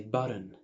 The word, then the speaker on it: button: نرحب بالشخصية الرابعة معانا وخلينا نسميها تي الحنجرة، glottal T، ودي بقى أكتر حاجة الأمريكان مشهورين بيها، زي button، kitten. منطقهاش باللسان، بنقفلها بالحنجرة كأنها همزة صغيرة كده، زي الأمريكان بيقولوها كده دايما.